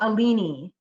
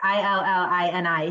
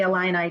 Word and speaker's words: Illini: But when he was talking about Champaign, Illinois, and the University of Illinois, he said, "Go Alini." Like Illini. He pronounced the Illini Alini.